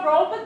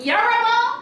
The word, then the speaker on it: Yoruba: I might be your Yoruba too, right? Girl, what? You mean Yoruba? First you gotta learn how to say it, Lloyd.